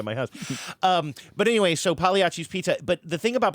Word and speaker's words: Pagliacci: time to time, called Pagliacci's, right? Pagliacci's Pizza. I'm saying that right? They don't pronounce the G here.